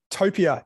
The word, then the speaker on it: Topia: So first of all, am I pronouncing Topia correctly? Topia, yeah.